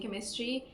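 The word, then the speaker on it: Camus: First pick book up आई डिड not know how to pronounce the author's name. So, आई was going around making a video saying the stranger by Albert कैमस। However it's Albert कमु्स more French more posh.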